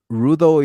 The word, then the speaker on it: Rudo: do you spell it rudo is r u d o like root but with ano and courses the car